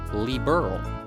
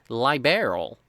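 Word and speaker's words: Liberl: It's actually liberal. I know this because someone in my last video told me I said it wrong when I pronounced it liberal.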